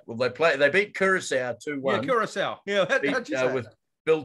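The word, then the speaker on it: Curaçao: but what you say please pronounce names properly uh they played a team called karachaya karacha garage um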